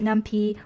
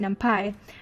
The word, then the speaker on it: NumPy: Some pronounce it Numpy, while others pronounce it Numpy, but I'll probably use both versions interchangeably. So Numpy is a Python library that provides a multi-dimensional array object.